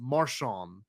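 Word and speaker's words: Marchand: It's spelled Marand M A R C H A N D but it's pronounced Marshon.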